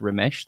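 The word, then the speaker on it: רֶמֶשׂ: The word creeping thing here is remesh or remes. I believe it's pronounced remesh, though.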